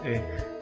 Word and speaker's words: que: Nah di sini u-nya malah nggak dibunyikan, jadi langsung ke.